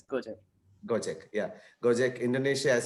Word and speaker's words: Gojek: He is a young engineer, graduated from Pune, and now working in Indonesia as do you pronounce it as Gojek? Or? Yeah, correct. It's Gojek.